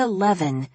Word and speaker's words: Leaven: Jessica Leaven rhymes with heaven.